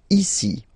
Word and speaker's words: ici: Ici. Ici. Okay? Then là. So remember you've got this accent but well you don't pronounce it.